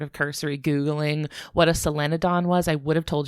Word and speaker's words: solenodon: Is selenon right? It is right. Yes.